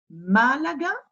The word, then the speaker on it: Málaga: Malaga. Hein? Donc l'accent est sur le premier, hein, c'est sur cette syllabe que je vais insister.